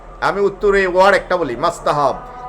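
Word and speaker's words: مستحب: উত্তরে ওয়ার্ড একটা বলি মাস্তাহাব অনেক হুজুর এটারে মাসহাব বলেন। দরকার কি? মাস্তাহাব বলেন। টি তো একটা আছে। অনেকে টি উচ্চারণ করে না।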